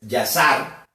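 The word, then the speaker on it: Yashar: libro de que que en hebreo o se pronuncia en en hebreo es yasar con con y a s h a r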